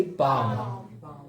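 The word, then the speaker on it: palm: एम, एफ, के और डी से पहले एल साइलेंट रहता है।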